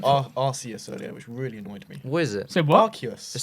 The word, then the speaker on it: Arceus: you also said Arceus earlier, which really annoyed me. What is it? Say what? Arceus. It's not Arceus. It's What is Arceus. It's not Arceus. The Pokemon It's Arceus. Arceus.